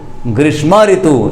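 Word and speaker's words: ग्रीष्मर्तु: तो जब कोई रे ऊपर लगा होता है, जिसके ऊपर लगा होता है वो उससे पहले बोला जाता है। तो ये जवाब बनेगा ग्रीष्म ऋतु। ग्रीष्म ऋतु, इस प्रकार से इसका उच्चारण करेंगे हम।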